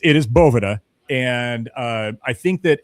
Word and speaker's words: Boveda: We don't we don't need to tell people that they're pronouncing it wrong. If they ask, right, which in this instance, right, you're asking. It's it's Bovetta.